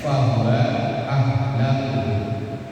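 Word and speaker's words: فهو أهله: Birofika dengan membaca rafa kafnya lafaz ahlahu. Rafa itu domah, makanya bacanya fahuwa ahlahu.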